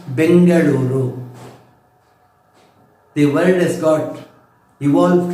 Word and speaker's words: Bengaluru: Earlier it was being pronounced and spelled as Bangalore. Now it is Bengaluru.